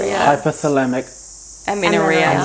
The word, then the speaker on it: hypothalamic amenorrhea: do you say it yeah it's hypocellamic amino hypothalamic aminoreal so like hypothalamic just to dumb it down